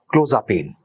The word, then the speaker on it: clozapine: क्लोजापिन, very important drug. हम इसको mnemonic बनाने की कोशिश करेंगे। क्लोजापिन को हम याद रखेंगे क्लोजअप जैसे। क्लोजापिन प्रोनाउंसिएशन क्लोजअप की तरह लगती है।